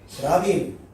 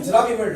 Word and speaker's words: 드라빔: 그런 와중에도 야곱이 그렇게 사랑하던 라헬은 자기 친정 아버지인 이 라반이 자기 목숨만큼이나 중요하게 생각했었던 드라빔, 영어 발음으로는 테라핌입니다.